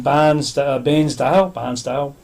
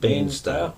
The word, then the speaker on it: Bairnsdale: Who's in Barnsdale, however you pronounce it. Bairnsdale.